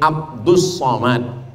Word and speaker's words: Abdul Somad: dia nama Abdul Somad jadi Sebenarnya nama ini Abdus Somad tapi kemudian ditulis dengan Abdul Somad banyak jamaah